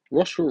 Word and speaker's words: rostral: so yeah like I said Roswell rhymes with nostril which means that your